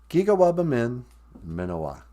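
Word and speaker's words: Giga-waabamin miinawaa: We say, Giga Wabamin Minowa.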